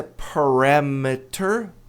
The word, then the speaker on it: parameter: A pronúncia é parameter. Parameter, né? Tônica tá no RA. Parameter t ladeado por vogais. A tônica tá no RA.